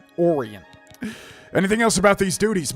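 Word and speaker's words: Oreyn: Interesting how she pronounces his name. Modin Orian. I thought it'd be like Orin. Oran.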